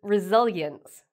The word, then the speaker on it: resilience: Another word we use a lot nowadays is resilience. So this might be hard for some people to pronounce. So let me say it slowly. Resilience.